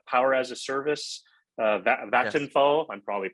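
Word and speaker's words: Vattenfall: Uh Vand Vanderfall battery uh power as a service uh Vatinfall I'm probably pronouncing. Yeah, VFal. Exactly. Vatal.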